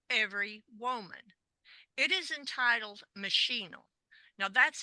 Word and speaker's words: Machinal: woman it is entitled machinal now that's how I'll be pronouncing it spelled m a c h i n a l uh some playwrights or some authors call it maol but I like machinal and this is by